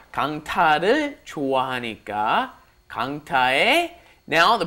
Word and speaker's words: 강타: You want to do 강타, right? It's a T sound, 티읕. You want a T sound. 강타를 좋아하니까 강타의.